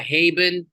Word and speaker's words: Haben: over here um yeah she actually goes by haben and some people call me hobin and then she's like